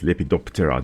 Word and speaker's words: lepidoptera: lepidoptra after all the lepido referring to scale terra with a silent p usually that refers to wing and we add it together it's lepidoptera then we actually do pronounce the p in terra and we're just going